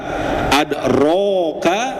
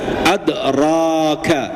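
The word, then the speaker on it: أدراك: Coba Pak dari vokal o-nya bakal kedengar beda enggak Pak antara adroka dengan adraka. I Pak ya antara adroka dengan adraka ya. Fathah itu sifatnya membuka jadi bukan manyyun gitu Pak ya.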